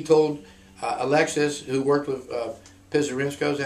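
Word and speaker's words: Pisarenko: I believe it came from Corellin, and I think he told Alexis, who worked with Pizarenko, is that how you pronounce it? Pizarenko.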